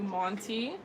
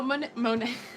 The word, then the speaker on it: Monet: Okay, so I'm going to be moving on to Monty. I hope I pronounced your name correctly. Okay. Oh, Monet. It's just her last name initial.